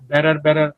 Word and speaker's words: better: বেটার মানে কি, ব্যাটা হবে না, বে হবে, এমনি তারপরে টয়ের উচ্চারণ ডয়ের মতো করেন আমেরিকানদের মতো, বেটার। ইজ ইট বেটার, right?